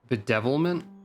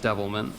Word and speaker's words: Devilment: for Tana flourishing Starfall bedevilment okay that's a little weird or not bedevilment it's just devilment you added an extra syllable to that are